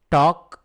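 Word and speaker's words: talk: complete it மெதுவா பேசு டாக் slowly இங்கேயும் பார்த்தீங்கன்னா டாக்ல எல் இருக்கு இல்லைங்களா அதை உச்சரிக்க கூடாது டாக் ஸ்லோலி அசையாத டோன்ட்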